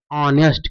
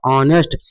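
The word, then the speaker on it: honest: ये क्या देखेंगे तुरंत समझ में आ जाएगा कि कांसोनेंट है। लेकिन इसका हमें उच्चारण निकालना है तो क्या ऑनेस्ट क्या होता है? ऑनेस्ट। तो जब इसका हम उच्चारण निकालना है दोस्तों तो ये स्वर का उच्चारण दे रहा है।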